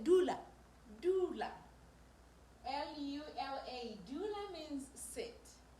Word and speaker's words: dula: are mostly verbs for example if I say Doula doula l-u-l-a dula means sit and krisa Kisa which means bring t-l-i-s-a notice the pronunciation is still the sound we've talked about